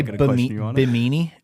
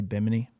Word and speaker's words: Bimini: Some people say Bimini and then some people say biminy.